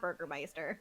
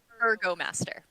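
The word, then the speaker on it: Burgomaster: is to go see it's not Burgermeister what is it burgo master burgo burgo master um he had not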